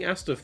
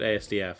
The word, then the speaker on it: asdf: So oddly enough, I never did anything with that on account of the fact that he's pronouncing Astif wrong. He was the first to call it ASDF.